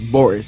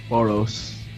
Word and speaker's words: Boros: only person that didn't die one punch was Boris in The Last Arc Boris Bor Boris Boris Boris and so pronouncing it like it's b o r i s well in reality it's b o r s boros you happy now boros yeah so um let's